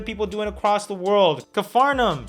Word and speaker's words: Capernaum: Cafarnaum, shot on Arri Alexa. I actually had to Google how to pronounce that because I was gonna say Capernaum, or that would have been embarrassing.